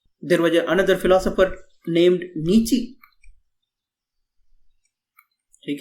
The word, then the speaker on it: Nietzsche: सो एंड सो इफ you talk about, there was another philosopher named नीची. ठीक है, it pronounce it as Nietzsche.